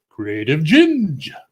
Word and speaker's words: Creative Ginge: By the way, you pronounce their channel Creative Ginge. That's how you pronounce it.